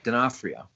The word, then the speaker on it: D'Onofrio: How do you pronounce his last name? D'Onofrio.